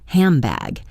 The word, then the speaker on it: handbag: The word handbag is almost universally pronounced hambag. This isn't lazy. It's physically easier for our mouths to make an sound before a B sound.